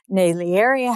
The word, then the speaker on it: Naglieri: saying the Jeep Island the g is silent so many times it